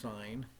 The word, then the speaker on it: sin: is just sin n it's still pronounced sign and it is the